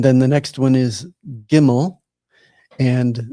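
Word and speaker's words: גימל: And then the next one is gimmel. And this is pronounced like the English letter G as in God.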